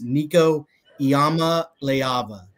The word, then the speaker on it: Nico Iamaleava: coincidence yeah so uh get your pronunciation guides out it's Nico Yama leava Yama leava so uh it's interesting